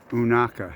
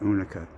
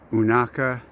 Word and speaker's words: Unaka: train tracks that peak there is unaka that's how you pronounce it not unica unaka mountain we came down